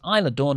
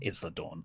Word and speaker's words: Isla Dawn: By the way, Ollie, I hate to be the guy, but she is pronounced Isla Dawn, not Isla Dawn. She's not an island. She's well-S.